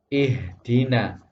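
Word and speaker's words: اهدنا: ada harapkan disini Caster maka ini dibaca ihdina ihdina tidak boleh suaranya diputus ih Dina ihdina itu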